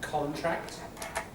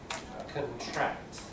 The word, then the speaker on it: contract: Like contract, contract. So what we call front stress for nouns. The noun gets the stress on the first syllable, the verb on the second.